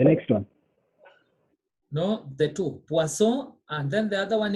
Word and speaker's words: poisson: pason, Do you pronounce N? paso, We say poisson, poisson.